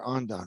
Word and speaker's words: andon: don't we're quick Felipe do they call andone or ondan what's the pronunciation in English in the in the United States it's and on and on okay so yeah and